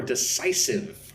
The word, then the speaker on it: decisive: Number 24, decisive. Again, three syllables. Stress goes on the second syllable, -cise. De-cise-ive.